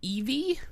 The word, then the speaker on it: Eevee: I don't think it's pronounced that way. It's not pronounced Eevee. We've been pronouncing Eevee wrong our entire It's lives. It's like eevee. It's just a weird accent on Eevee. I think in English it's pronounced Eevee, but in Japanese I think it's pronounced in a way that I can't say it.